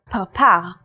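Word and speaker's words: פרפר: In the word parpar, or butterfly, this letter is pronounced with a p sound.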